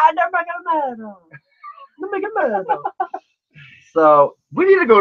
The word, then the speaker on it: Nurmagomedov: fight to make, especially when you've got Habib Nurmagomedov. You can never say his name right. It's so funny. It's like Nurmagomedov. Nurmagomedov.